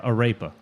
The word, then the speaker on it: arepa: You pronounce the R better than I do.